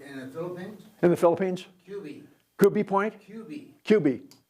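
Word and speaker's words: Cubi Point: Um, we had Liberty at uh, is it Subie Point Naval Air Station? Was that right? Am I pronouncing that right? In the Philippines. In the Philippines. QB point.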